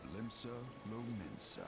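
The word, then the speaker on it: Limsa Lominsa: the Rotano Sea lies the maritime city of Limbsa Lmensa. Limbs lamemensa. Okay, so I was correct with the pronunciation.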